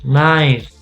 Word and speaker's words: knife: say knee new knickers knife light we do not pronounce the k the k is silent